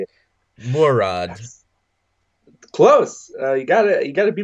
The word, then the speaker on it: Mourad: Mourad. That's close. You gotta be more fluent with it. Mourad.